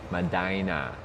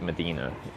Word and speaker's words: Medina: Medina. Madina. Like that. I'm going to keep saying it wrong probably like I'll on a repeat after me basis reading chat I'll probably say it right and then when I like look at it on a map I'll say it medina medina like a female body part like reginina Saskatchwan all